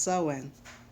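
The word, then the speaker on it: Samhain: this right yes when oh so it is pronounced sowing there it goes right there in the pagan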